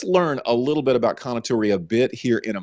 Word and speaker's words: Kounotori: The Kounotori, and I hope I'm saying it right, and I think I have from my research.